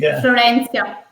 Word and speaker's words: Florencia: And so at the time, Elettra was dropping the Florence deck, okay, you have to pronounce it for me. Yeah. Florence. We were live on Kickstarter together. Yeah. The name is Florencia.